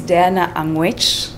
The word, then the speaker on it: Diana Angwech: talk about the girl child her name is Diana anguish do they pronounce that right you got it I'm good